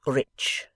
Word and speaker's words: rich: "Our English adverbs do not terminate in mong, and we pronounce the ch as if there were a t before it. We say rich."